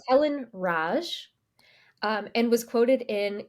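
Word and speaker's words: Racz: that what you said yeah it would be Roach I'm gonna look it up because we can CZ is pronounced CH in Polish punchki we're gonna listen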